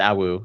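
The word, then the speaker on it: Aau: And the last one we come to is I don't know how to pronounce this. Song? Song? Awu? Okay. It's Awu.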